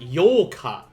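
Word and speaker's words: ようか: eighth that is correct yoka uh this one can be tricky because uh depending on how you say it do not confuse yoka with yolka they are different uh this is where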